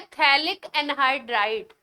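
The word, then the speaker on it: phthalic anhydride: एक special reagent है थैलिनी हाइड्राइड क्या नाम है अच्छा सा नाम है थैलिनी हाइड्राइड थैलिपीठ है जैसे साइकोलॉजी में पी साइलेंट होता है थैलिनी हाइड्राइड से रिएक्शन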